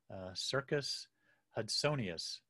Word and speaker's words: Circus hudsonius: your are area Northern Harrier um it's actually pronounced Circus Circus hudsonius um circus derives from the Greek word Kiros